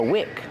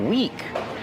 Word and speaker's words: wick: Use the short is sound like this is. This is the wick of the candle. Wick. Not weak with a long E like green beans. I don't feel good, I feel weak. Weak is the opposite of strong. Weak, like this week and next week. It has the same pronunciation as this week and next week. So that's weak, and this is wick.